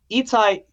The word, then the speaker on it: Itai: He's doing Itai Ben Shlomo, now known as Itai Benson. He did the band's visit. Huge shout out to Itai. I love you, man. Itai was Itai. Sorry, I'm getting the emphasis on the wrong syllable.